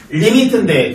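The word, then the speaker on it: lim: 뭐라고 읽어? 림인데 리미트라고 할 거야.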